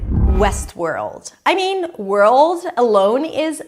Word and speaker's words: Westworld: A lot of times people drop the L and then they say something like word. Westward. That's a different name. Westworld. O. You want to make sure that you hear that dark deep L sound.